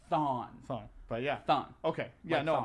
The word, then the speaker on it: Thawne: So I was saying it wrong. Yeah. Thawne.